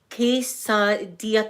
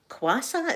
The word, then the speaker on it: quesadilla: See, the past few weeks, it's pronounced quesadilla. Quesadilla? Am I saying it right? Is it quesadilla? I made some quesadillas this morning. See, the queue got me because I was like, quasa? Is it quasa?